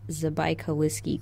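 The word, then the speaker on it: Забайкальский: It was discovered in what we think is pronounced Zabaikalsky, Krai, in Siberia, which is how it got its species name, Zabaikalicus.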